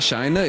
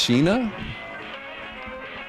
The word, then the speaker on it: Sheena: So, it's not Shina, it's Sheena.